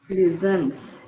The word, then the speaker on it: listens: Listens. T is silent there.